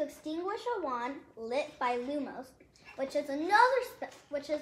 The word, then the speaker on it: Lumos: Look at the pronunciation! Lumos. Use to light the tip of the wand. In Latin, lumen means light.